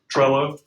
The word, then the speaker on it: Trello: Trello. How do you spell that? If I was going to say hello with a TR on the front instead of an H.